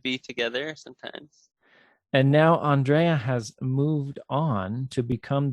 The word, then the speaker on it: Andrea: And Andrea, now it's spelled, as we've discussed before, it's spelled Andrea, but it's pronounced Andrea, right?